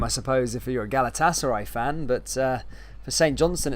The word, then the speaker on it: Galatasaray: It's not Galatasaray, it's Galatasaray. I'll try my best to with the pronunciation, mate.